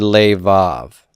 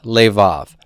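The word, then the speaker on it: לבב: Hebrew word for heart leave off how many syllables do I have here I have two and this one's open this one's closed where's the tone it's on the end now this bet right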